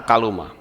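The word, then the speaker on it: κάλυμμα: Itu bacanya gitu, saudara. Kata kaluma.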